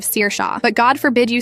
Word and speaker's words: Saoirse: Saoirse who becomes Sorcy instead of Saoirse.